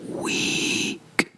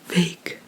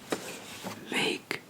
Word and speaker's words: week: as V so not weak but v v v so it's like it literally sounds like the English word to wake up so it's vake vake and then we have